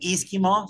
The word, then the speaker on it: E-SKIMO: showing a product that you're calling Eskimo or esimo I'm not sure how you pronounce it tell me about it yes it's actually Eskimo stands for electric ski mountaineering well you're holding